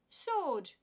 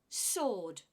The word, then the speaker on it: sword: divorce you try divorce sword and don't pronounce the W it's not SW it's not sword it is just sword again a silent letter